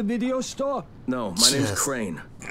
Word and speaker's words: Crane: No, my name's Crane. Crane rhymes with train and plane and sane and rain and plane and the other kind of plane.